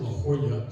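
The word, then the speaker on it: La Jolla: uh had this is this is a Double L pronounce is a y right and the J is kind of a like La Hoya so it's hi and that's Delmar that's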